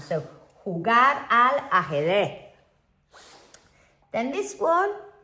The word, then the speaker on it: jugar: This one, now we know that the J, this J called J in Spanish, what sound is it? It's like a H sound. So we've got H-U-G-R, jugar, a las cartas.